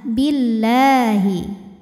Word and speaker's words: billahi: Wa'tasamu billahi Lam pada lafaz Allah atau lam jalalah dibunyikan secara tarqiq, sebab huruf sebelumnya ini berbaris di bawah, yaitu berbaris kasrah. Maka cara bacanya tipis, bunyinya lah, billahi.